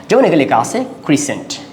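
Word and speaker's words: crescent: বোনাসটি আমরা দেখি এটা সাইলেন্ কখন সাইলেন্ট থাকবে সেটা আমরা এই কয়েকটা শব্দ দেখলে আমরা বুঝতে পারব ক্রিসেন্ট কি লেখা আছে তাহলে এখানে আমরা সিটাকে সাইলেন্ট করে রাখতে পারি ক্রিসেন্ট এরপর আসা হচ্ছে আপনার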